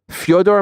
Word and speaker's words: Fyodor: Fyodor, pronounced Fyodor, in BKFC.